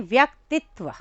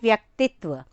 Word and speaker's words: व्यक्तित्व: यहाँ पर देखिए आप, शब्द है व्यक्तित्व और ज़्यादातर लोग इसका उच्चारण करते हैं व्यक्तित्व, व्यक्तित्व इस तरीके से, जो गलत है। सही शब्द है, आपने बच्चे को समझाना है कि पहले वो करेगा व्यक देन तित्व। व्यक्तित्व मीन्स पर्सनैलिटी, तो सही शब्द का उच्चारण है व्यक्तित्व।